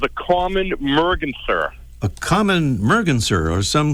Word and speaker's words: merganser: common merger a common Merganser or some say merganzer but you can pronounce it either way but unfortunately it wouldn't